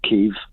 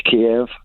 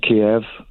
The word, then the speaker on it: Kiev: or two kia and it is kiev it's not keiv it's kiev once it's around kiev that will give the